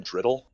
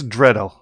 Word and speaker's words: Dreddle: Say his name, Driddle? Tobias Dreddle. Dreddle.